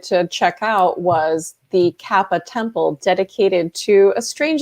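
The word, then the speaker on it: 河童: you were investigating the the koopa is that how you pronounce it like the kappa kappa kappa all right so we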